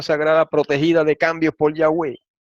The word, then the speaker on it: Yahweh: A saber, Yahweh se escribe así, pero se lee así como lo voy a leer. Yahweh, Yahweh, Yahvé y Yahweh.